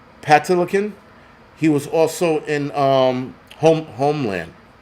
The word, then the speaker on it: Patinkin: It's Patinkin.